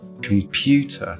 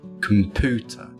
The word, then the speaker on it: computer: So we say words like dune (/djuːn/)) not dune (/duːn/) or computer (/kəmˈpjuːtə/) not computer (/kəmˈpuːtə/).